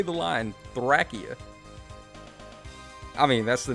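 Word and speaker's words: Thracia: saying say the line thrackia i mean that's the name of the game right if you're looking at the japanese pronunciation it's thrakia it's not really any ifs ands or buts about that lopez 73 saying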